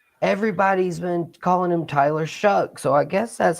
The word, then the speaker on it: Shough: but it is spelled Shough as well. Right. Where is the C and the K in that name to make it Shuck, like corn?